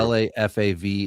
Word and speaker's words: Lefevre: But he just doesn't spell it right. He doesn't. This is true. Lafav. It should be OUR, like favor, like how it's spelled, Queen's English.